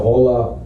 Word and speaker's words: hola: I didn't know the H is silent. So hola, ¿cómo estás?